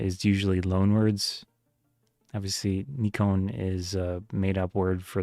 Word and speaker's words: Nikon: Obviously, Nikon is the American America way of saying it. I am American, but I prefer the other way. And the the true pronunciation in Japan is nikon. Three syllables.